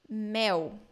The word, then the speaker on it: mel: So the L in the end of words and syllables in Brazilian Portuguese sound like U. So I will read these three words for you. So say, in Brazil we say papel. Papel. Mel. Mel. Brasil. Brasil. Not papel, mel, Brazil.